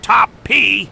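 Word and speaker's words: Topp: Coming from the guy who called himself Top P, The last P is silent, and it's a legit name.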